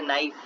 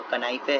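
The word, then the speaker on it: knife: कोई बोले नाइफ। नाइफ की स्पेलिंग क्या होती है? के एन आई एफ ई। बोले ये तो कनाइफे है। के का क्या काम नाइफ के अंदर?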